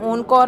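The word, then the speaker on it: encore: തന്നെ ഇ എൻ സി ഓ ആർ ഇ അതിനെ ഓൺ കോർ എന്നാണ് പറയുന്നത് അതുപോലെ ഇ എൻ ടി ആർ ഇത്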